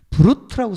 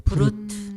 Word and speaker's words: Brut: 브루트라고 써 있어요. 브루트. 뭐 프랑스 발음 브루 뭐 이렇게 하는데 예, 브루트라고 써 있어요.